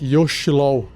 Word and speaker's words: Yochlol: Y-O-C-H-L-O-L. Também poderia falar Yoshlol, mas em inglês o pessoal pronuncia Yochlol.